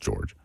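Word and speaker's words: Georges: There is a S at the end of George, but he's French Canadian. Yes, it's just pronounced George.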